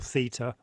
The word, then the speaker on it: Theta: the Greek alphabet because Theta or Theta as British say is is a Greek